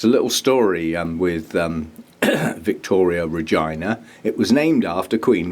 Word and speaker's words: reginae: have a non-Latin name, so they stuck an E on the end to give it a Latin feel. So it's Victoria reginae.